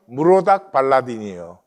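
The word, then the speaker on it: 므로닥발라단: 열왕기하 20장을 보시면 히스기야가 병들었다가 나으니까 바벨론의 브로닥 발라딘이 사신을 보냈다, 그렇게 나와요. 여기 이제 브로닥인데 히브리 발음으로는 역사적으로는 무로닥 발라딘이에요. 발라단.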